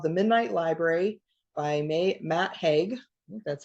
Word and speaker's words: Matt Haig: book it's called The Midnight Library by May Matt Hague that's how you say his name and uh